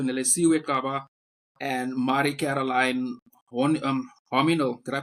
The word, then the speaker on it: Hominal: We're talking to Nlesa and Mari Caroline um Homino. Did I pronounce that correctly?